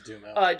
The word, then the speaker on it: Duhamel: Is it Duhamel? Dumel? Dumel. I think it's Dumel.